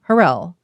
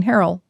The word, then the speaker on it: Harrell: place to apologize because dr seifert was pronouncing dr harrell's name harel and i've been saying harold stay tuned for las